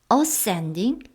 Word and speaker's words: ascending: 원래 이 ascend, descend 모두 강세가 다 뒤에 있는데요. 이렇게 말을 하다 보니까 두 단어를 함께 쓰다 보니까 ascending, descending 이렇게 앞에 있는 것을 조금 강조해서 지금 발음을 하고 계십니다. 천사가 오르락 내리락 하고 있었습니다.